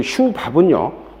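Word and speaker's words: Schwab: 그 슈 밥은요, 두 가지로 발음해 슈 와바고 그 다음에 슈 밥 이렇게 말을 하죠.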